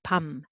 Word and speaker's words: 밤: Okay, so 부 plus a, 바, and m underneath 밤, and s plus o, 소, and n underneath 손.